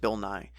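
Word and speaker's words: Bill Nighy: after last week's episode I did check the pronunciation and it really is just Bill Nye so there you go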